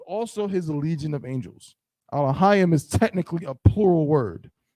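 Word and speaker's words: אלהים: So just read each letter all the way through, but the last two letters are going to be one syllable together. Alahayim.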